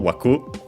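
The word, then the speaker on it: 枠: say frame or border it's accented on the last syllable waku Uh, and it's a word of strict Japanese origin.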